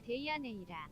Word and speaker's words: 데이아네이라: 데라네이아가 아니라 데이아네이라.